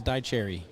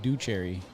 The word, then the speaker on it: Dycherry: Chat says Dycherry. Dycherry, that's how you say it? Yeah, they tried sending me in the wrong direction saying Ducherry. But then they blamed it on spell check.